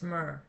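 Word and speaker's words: myrrh: I don't know why, but some people pronounce it mirth. It's not mirth, it's myrr.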